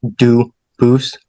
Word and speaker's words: Dubus: They do pronounce it dubus, but you said you pronounce it dubus as the original. Duboose as the original French.